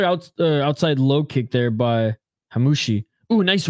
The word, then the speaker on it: Hammouche: Hammouche, that's how you pronounce it.